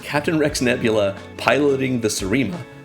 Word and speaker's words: Seriema: Nebula piloting the Serema, which during that whole video I pronounced it as the Seriema because I had not not heard any of the podcasts for it. I still think Seriema may be a cooler pronunciation, but that's just me.